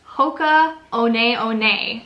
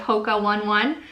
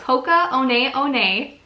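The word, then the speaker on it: Hoka One One: contacted us and told us that it's actually pronounced Hoka owned aione instead of polka one one so its Hoka owned aione these were a pair of women's Hocus and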